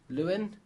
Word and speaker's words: Llewyn: Am I pronouncing this right? Inside Llewyn?